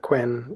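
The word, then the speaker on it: Qwen: programming is Chentree uh Quen is how they pronounce it a lot in the west um from Alibaba.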